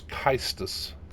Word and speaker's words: caestus: I'm gonna go with Cestus. It's actually in Latin. That would actually pronounce Caestus.